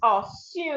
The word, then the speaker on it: assume: So this is assume. Assuming. Assume. Assume. So the second syllable is stressed, not the first syllable.